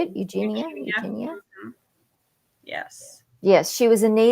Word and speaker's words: Eugenia: Eugenia?